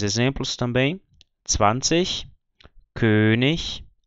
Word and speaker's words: König: com CH, esse som, mas quando a palavra termina em IG, no fim de sílaba ou fim de palavra, você vai ter esse sonzinho, o mesmo som do CH de ich.